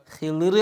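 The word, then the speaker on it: خضر: മംസാലഹുമ ഈസാ നബി അലൈസലാം ഹളർ അലൈസലാമിനെ പോലത്ത മഹാന്മാർ ഹളർ അലൈസലാം എന്നും പറയും ഹിർ അലൈസലാം എന്നും പറയും രണ്ടും അവരെകുറിച്ച് പറയും ശരിയായ ഉച്ചാരണമാണ് രണ്ടും അലൈഹിസ്വലാത്തു വസലാമുൽ ഹാലിദ അവർക്ക്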